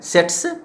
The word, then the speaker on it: tsetse: से सेस्टी बीमारी है, सेट्स जिसको हम पढ़ते हैं टी साइलेंट से, ध्यान रखिएगा, अफ्रीकन है, साउथ मतलब सहारा में ये जनरली पाया जाता है।